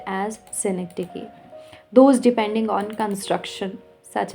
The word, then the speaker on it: synecdoche: This is pronounced as synecdoche.